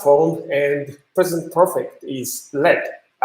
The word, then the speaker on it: lead: PV element this is you have to pronounce this as LED leg but top one